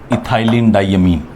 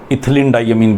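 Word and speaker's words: ethylenediamine: इस particular ligand का नाम है इथाइलिन डाइअमीन। इथाइलिन डाइअमीन, शॉर्ट में इसको ऐसे रिप्रेजेंटेड रहता है बुक्स के अंदर, EN। इथिलीन डाइअमीन भी प्रोनाउंस कर देते हैं समटाइम।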